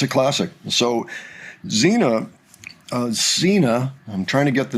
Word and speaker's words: Sina: So, Zena, uh, Zena, I'm trying to get the name right. There's a pronunciation somewhere between S and Z, I'm told.